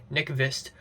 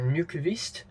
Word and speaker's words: Nykvist: I mean, in black and white, his films look amazing thanks to DP Sven Nykvist or Nykvist. I think it's a better pronunciation, but this time in color, it looks really good as well.